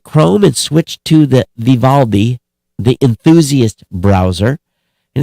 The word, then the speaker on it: Vivaldi: browser i'd love to hear from you again it's spelled v-i-v-a-l-d-i like all these but viva viv aldi so